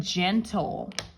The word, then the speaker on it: gentle: The soft G makes the J sound. So normally it goes G, G, G. But sometimes it's soft. And when it's soft, it makes the J sound, okay? And that's what we're going to do in gentle.